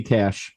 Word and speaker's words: Cach: And now, Cach, is that how you say your name? Yep, that's right, Cach. Cach, and it's spelled, sounds like money, but it's spelled C-A-C-H, right? E, is that it? It's just C-A-C-H.